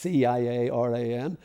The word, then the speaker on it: Ciaran: For Northern Irish and Irish people it's not difficult, but Ciaran is spelled with a C, so it's Ciaran, and the one that'll get it actually is the Mac.